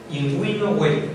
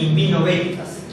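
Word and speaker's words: in vino veritas: Inguino hueritas. No es invino veritas. Veritas tampoco es hueritas. No es veritatem, es hueritatem. Entonces, U. Imagínense que hay una U.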